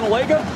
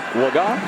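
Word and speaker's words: Cooper Legga: just got word that the preferred pronunciation of this quarterback is Cooper lagot we've been saying Lega a guy who wasn't expected to play hadn't thrown a pass in his entire career preferred pronunciation laga so we apologize for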